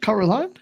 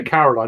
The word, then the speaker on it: Coraline: Yeah, she was Coraline, as she pronounces it. That's how it's pronounced, isn't it? Coraline. I know. Well, yeah, Caroline, no, it's Coraline according to her way.